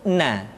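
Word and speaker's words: ن: Huruf na. Caranya menyentuhkan ujung lidah kita di antara posisi ro dengan la.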